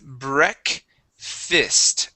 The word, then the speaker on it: breakfast: breakfast breakfast breakfast okay instead of breakfast it is bre fist breakfast breakfast okay one